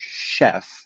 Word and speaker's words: chef: represents this right so like the ch in english like the word chef is spelled with ch but it's an sh sound it's one of the